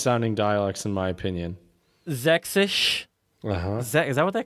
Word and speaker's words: Sächsisch: Sächsisch. Uh-huh. Is that what they call it? Sächsisch.